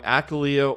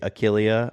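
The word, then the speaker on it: Achillea: Akalia or Yaro? And Matt says Akalia. I say Achilia, potatoes, potatoes, as long as you spell it right.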